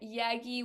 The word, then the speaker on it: Yagki: All on social, Spotify, Yaggi, YAGKI, the K is silent, and then on socials it is I am Yaggi, like I am Batman, but Yaggi version.